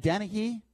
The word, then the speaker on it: Dennehy: And Dennehy, am I pronouncing his name right?